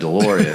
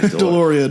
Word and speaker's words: Deslauriers: Deloreia. Deloreia.